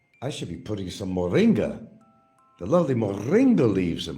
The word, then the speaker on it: moringa: Moringa, I love the name, moringa. But you got to roll your tongue with that. You got to say it right, moringa.